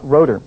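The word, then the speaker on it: Rotter: about this in particular was a man named rotor his name is pronounced is spelled ro TT TT ER but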